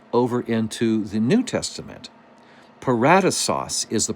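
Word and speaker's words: paradeisos: take a look over into the New Testament paratos is the pronunciation of that word which we would then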